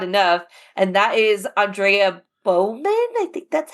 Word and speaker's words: Beaumont: gets talked about enough, and that is Andrea Beaumont, I think that's how you say Beaumont. her last name. Yeah. Beaumont, yes, that's how you say her name.